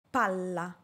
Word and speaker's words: palla: PALLA - PALA Para pronunciar la doble "L", debo alargar el sonido de esta letra y dar menor énfasis a la vocal que la precede, en este caso la letra "A".